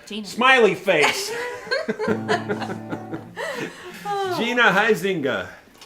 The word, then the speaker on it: Huizinga: Took me like 10 years, maybe a whole decade to learn how to say her name. And I used to have to pretend like I was sneezing when I said it.